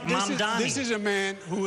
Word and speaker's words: Mamdani: This Just is say the name right, Mamdani.